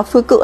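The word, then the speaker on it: 服: Đứng một mình nó sẽ đọc là phư cự đấy.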